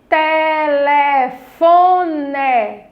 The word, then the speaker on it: telefone: Foi a sílaba Fó. Então, se essa daí foi a que eu falei com mais intensidade, com mais força, então essa é a nossa sílaba tônica da palavra telefone.